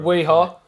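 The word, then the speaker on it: Wera: Weha. The main reason it rhymes with my company motto, which is Yeehaw.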